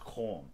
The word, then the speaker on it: Cannes: No, I found out it's Con.